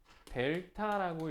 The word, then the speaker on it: 델타: 자, 여기서 세모 t라고 돼 있는데 세모 t라고 읽으면은 무식한 사람 되는 거야. 자,이 세모를 뭐라고 읽어요? 델타라고 읽어요.